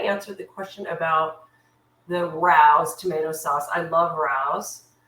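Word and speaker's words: Rao's: I'll have to try rouse the next time. That is how we pronounce it, right?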